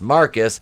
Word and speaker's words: Marquis: a numbers game until marquis pronounced marcus because he's [ __